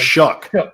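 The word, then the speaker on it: Shough: Shuck. Shuck. Like an oyster. Shuck.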